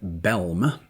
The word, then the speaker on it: Bellm: Raymond Bellm, which was probably a name that earned him some ribbing at school, as it's spelled Bellm. And if you say quickly, sounds like Bell, whose experience included quite